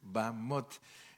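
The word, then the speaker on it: במות: lee, pero sin embargo cuando se habla en hebreo Bamot, Bamot, y tal vez nosotros si nos dicen escriba Bamot ponemos B-A-M-O-T, ¿verdad?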